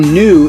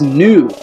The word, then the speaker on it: Nu: in a differentiated world the name new is spelled phonetically with the nw hieroglyph of the bowl or the jar containing the waters or the womb containing the waters of the goddess which is why the name is new as in the new